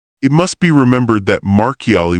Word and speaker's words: Marchiali: It must be remembered that Marchiali would be pronounced in Italian Marchiali, and that St.